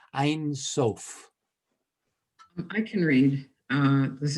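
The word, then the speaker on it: Ein Sof: we could get a reader please it's that's pronounced einsof i can read uh this is regine um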